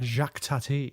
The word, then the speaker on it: Jacques Tati: how do you pronounce the full director's name jacques tati it's not his real name but that's like his stage name yeah jacques tatty yes yes it's gonna yeah i'm looking forward